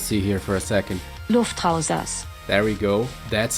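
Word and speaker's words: Luftrausers: wrong let's just see here for a second lufthansa there we go that's how it's pronounced okay so lufthansa is a minimalistic but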